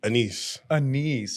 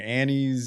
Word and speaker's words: Anise: Anise. Okay, I was saying Annie's, Ains, Anis, but Anise.